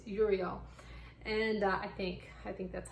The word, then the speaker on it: Uriel: I always want to say Ariel, but it's Uriel.